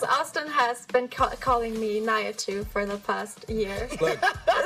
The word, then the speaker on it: Nihachu: Can you give me the official pronunciation? It's Nihachu. Nihachu.